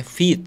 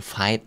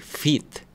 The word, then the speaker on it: Vite: Fit ya pakai Fit itu dibacanya Fit bukan fight bukan VT tapi Fit itu bahasa Jerman atau bahasa mana gua lupa dah Ini gua udah